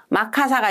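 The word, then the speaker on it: マッカーサー: 근데 메가더의 일본어 발음을 기억하셔야 됩니다. 문제는 1로 나오니까. 마카사입니다. 마카사가 임명이 되고 어 간접 통치를 해요.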